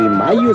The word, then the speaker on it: Mallo: Y Mayo se escribe como gallo, L-L-O, Laboratorios Mayo.